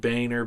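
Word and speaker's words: Boehner: to say his name he he pronounces it Boer but I think it really is boner what whatever it is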